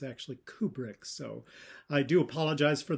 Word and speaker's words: Kubrick: And finally, I mispronounced the name of Stanley Kubrick. I called him Kubrick. It's actually Kubrick.